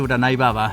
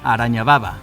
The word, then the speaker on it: Uranai Baba: Goku no sabía pronunciar correctamente el nombre de Uranai Baba, siendo que le decía Araña Baba.